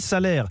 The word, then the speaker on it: Salers: matin sur europe 1 vous dites salaire ou salers on ne prononce pas le nom rendu salaires voilà je pense que c'était bien de le dire souvent c'est peut-être très parisien mais on dit souvent salers donc on dit salaires département nature le cantal